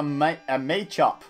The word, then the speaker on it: Machop: I know it's pronounced Machop, guys.